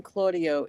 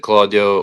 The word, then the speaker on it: Claudio: Uh you can pronounce it Claudio or as the Italians say Claudio. Um so you could really say it however you'd like.